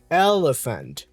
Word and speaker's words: elephant: So, the second e is a schwa and the a is also a schwa.